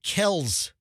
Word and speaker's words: Kelce: But their name is Kels. It's not Kelsey. The real pronunciation, but the father, I guess, was correcting people and saying, no, it's not Kelsey, it's Kels.